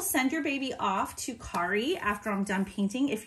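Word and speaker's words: Cari: artist friends Carrie Compton you actually say her name Kari but it's spelled c-a-r-i and she is with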